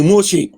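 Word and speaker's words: משה: Ici, on a une lettre ici qui ne se prononce pas. Ici aussi, on a une lettre aussi qui ne se prononce pas. La dernière lettre là que tu vois ici là. La lettre, on n'a pas dit Moussa. C'est Moussa. Voilà, on dit Moshe.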